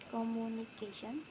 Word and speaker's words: communication: In the base word communicate, the primary stress falls on an earlier syllable, but when the suffixation is added, the stress moves to the syllable immediately before the suffix. This change results in the pronunciation communication.